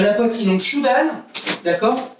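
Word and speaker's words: chudan: À la poitrine, donc Shudan, d'accord? Ça s'écrit C-H-U-D-A-N. Le U se prononce OU, d'accord? Comme dans hibou. Hein? Donc c'est Shudan.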